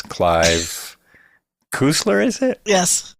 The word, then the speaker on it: Cussler: I never knew how to pronounce Clive Cussler, is it? Yes. Cussler. So Cussler.